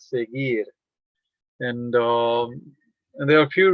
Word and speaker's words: seguir: So now if you have U between G and I, the sound goes directly to I, so you pronounce it as seguir.